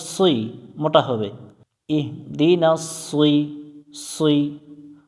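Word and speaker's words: اهْدِ: মিলবে হা এর সাথে ইহ দাল জের দি ইহ দি ইহ দি এখানে অনেকজন যে ভুলটা করে সেটা হচ্ছে ইহিদি পড়ে ইহিদি হা এর নিচে এখানে জের নাই এখানে সাকিন আছে আমরা ইহদি পড়বো ইহদি নুন জবর না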